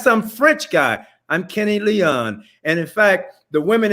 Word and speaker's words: Leon: Am I pronouncing your last name right? Kenny Leon. Only time it was pronounced Leon was when I won the Tony Award, and Clint Eastwood says, and the winner is Kenny Leon, which I sat in